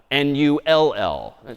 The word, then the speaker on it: NUL: confusingly, this null value NULL again humans decades ago decided that one would be called NUL, other humans decided this new thing would be called NULL. NUL pronounced null, it's just a null terminator backslash zero.